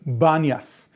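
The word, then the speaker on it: Banias: is the city of Banas now Banas is a derivative from Arabic um because in Arabic the letter P is not pronounced there's no P sound so panas the city of pan became Banas and what am I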